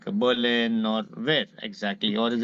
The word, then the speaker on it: Berlin: move to Berlin and this Berlin in German R is silent so they call it Bin not okay